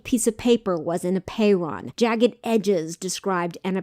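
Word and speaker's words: apeiron: the concept of apeyron it's spelled a-p-e-i-r-o-n a payron it's a greek word that means unbounded like infinity the greeks considered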